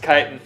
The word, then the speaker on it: chitin: It's pronounced chitin.